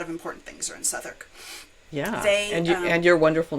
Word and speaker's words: Southwark: Um, but this one, I live in Southwark, which is like spelled like Southwark, but I live in Southwark, which is it's an important borough in London.